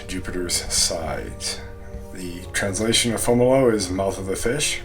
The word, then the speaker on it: Fomalhaut: it as a child i called it foam halt which isn't even correct for how it's spelled in english so fomolo is correct it's a brightest star